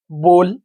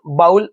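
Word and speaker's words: bowl: घरात वापरतो cup glass बोल स्पून डिश ठीक आता हे सगळे वर्ड तुम्हाला फॅमिलर आहे बरेच मुल याला बाऊल म्हणतात बाऊल याचा प्रोनन्सिएशन बाऊल असा नाही बोल बोल आहे स्पून डिश थिंग्स यज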